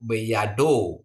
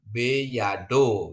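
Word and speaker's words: בידו: ini juga moving spa Kenapa dia ada moving spa karena dia di awal dan ada dages ya Bapak Ibu ya jadi bacanya itu beyado ya beyado ya ini moving spa ya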